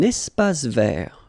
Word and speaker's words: espace vert: Un espace vert. First thing, you've got this little link between the two. Un espace vert. Final not pronounced, and then final T not pronounced.